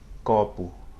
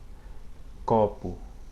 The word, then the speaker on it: copo: It's actually an open O. Copo. I'm not doing it right, but anyways, copo.